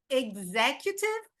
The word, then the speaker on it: executive: Judicial branch, executive. So the X, você pode falar assim como um Gzinho, né?